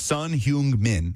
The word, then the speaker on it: Son Heung-min: Son Heung-min. He's probably the best Asian player of all time. Son Heung-min? Is that how you say it? Son Heung-min, or Heung-min Son.